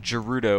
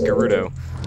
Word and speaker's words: Gerudo: King Gerudo again but a I used to pronounce it Giroud oh all the time but then because breath of